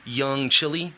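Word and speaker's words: Young Chile: I transferred ownership to one of my business partners, Young Chili. That's C-H-I-L-E, like the country spelling, but not the country chili.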